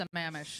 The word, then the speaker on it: Sammamish: I got a lot of guff yesterday that it's not Sammamish, it's Sammamish. Sammamish.